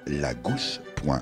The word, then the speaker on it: La G'House: écrivez à la Gousse, ça s'écrit L-A-G-H-O-U-S-E comme G-House, donc la Gousse.